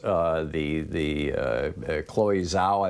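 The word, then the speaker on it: Chloé Zhao: Chloe Zhao, I believe, is how her name is pronounced.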